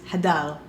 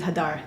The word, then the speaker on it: Hadar: The real way to pronounce my name is Hadar, but I'm going to settle with Hadar.